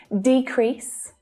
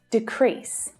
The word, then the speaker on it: decrease: at the first word as a noun the stress is on the first syllable as a verb the stress is on the second syllable so listen decrease decrease can you hear the